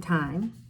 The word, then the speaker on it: Thyme: time is about a girl named time spelled like the herb and time has had